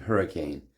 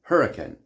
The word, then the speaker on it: Hurricane: Utah desert named Hurricane, but residents of Hurricane pronounce the town Hurricane, which is a source of much hilarity for non-Hurricanites. Let's be clear, the pronunciation Hurricane wasn't invented in southern Utah. It's the common pronunciation of the word in the UK.